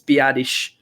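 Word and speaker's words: Biadasz: do know his is I researched how to say that name just to be sure that we were saying it right so I wanted to do him Justice um it's biadish but um at left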